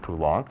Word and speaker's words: Poulenc: Yeah, we both butchered quite a few pronunciations last. I think this is Duruflé and Poulenc. Poulenc, thank you, and the university singers and conductor